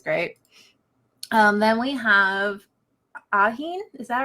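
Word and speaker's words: Ahin: geez there's a lot of things I can't pronounce in heard everything um yeah I love her she's great um then we have aheen is that right yep okay um she's born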